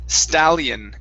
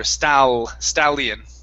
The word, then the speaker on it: stallion: word here instead of stashing this word is stallion give me good l's here stal stallion stadium there you go one more time stallion